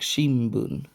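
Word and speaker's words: shinbun: another example of this word for newspaper Shin Boon which sounds more like Shimon for those who are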